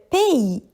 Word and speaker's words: pays: Le pays. L E le p a I. P. C'est aussi un mot avec une lunette muette. Ici c'est le S.